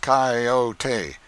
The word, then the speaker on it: coyote: this latter was the regular coyote pronounced cayote of the farther deserts